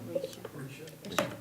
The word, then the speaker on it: Risha: Did I say it right? Risha. Okay. I don't want to get it wrong. No, you said it right.